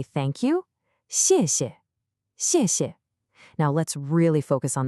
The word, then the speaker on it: 谢谢: That pinyin initial X sound doesn't exist in English. It's not sh. To make this sound, the tip of your tongue should be down, touching the back of your bottom teeth, and the middle part of your tongue rises up. It's a high, thin sound. Listen, 谢. And both syllables are that sharp falling fourth tone, 谢谢.